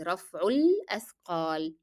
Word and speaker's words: رفع الأثقال: And notice that alif will be dropped in pronunciation because it is preceded by a vowel letter, which is dhamma. So you move from the sound of dhamma directly to the lam. It is رفع الأثقال.